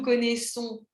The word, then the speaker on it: connaissons: Connaître, qui fait deux S au pluriel, d'accord? Donc deux S en français, ça fait S. Voilà, un seul S, ça fait Z. C'est pas la même chose, S et Z. Voilà, donc comme on a nous connaissons, vous connaissez, ils connaissent, le pluriel de verbes comme dire, lire, c'est nous disons, nous lisons. Voilà, nous connaissons, différent.